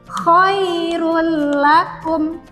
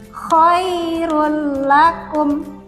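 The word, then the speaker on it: خَيْرًا لَّكُمْ: Yang pertama, ini contoh apabila ada tanwin bertemu dengan huruf lam, maka kita bacanya huruf tanwinnya ini kita leburkan ke dalam huruf lam dan tidak didengungkan. Kita baca khairul lakum. Kita ulangi, khairul lakum.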